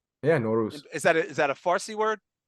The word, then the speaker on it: Nowruz: So How do we yeah, pronounce Nowruz? yeah, Nowruz, Is that a Farsi word?